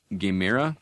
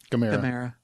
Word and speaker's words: Gamera: The Thing, The Host from 2006, Gamera, is that pronounced that right? Or Gamera? Gamera.